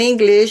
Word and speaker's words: English: The initial E in English is pronounced like an I, English.